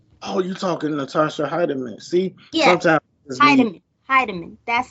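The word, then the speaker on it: Hiedeman: that's her name oh you talking to Natasha heiderman see yeah that's how you pronounce it yeah they still do I think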